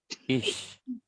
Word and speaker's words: ich: Ya, jadi ini kalau mau belajar pelafalan ini dibacanya agak S ya. Ich.